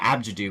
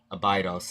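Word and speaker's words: Abdju: and since we're an AB to do which is the Egyptian pronunciation um we call it abidos in English of course so does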